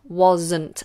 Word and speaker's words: wasn't: because I wasn't there wasn't and that s is a Zed wasn't wasn't and the next one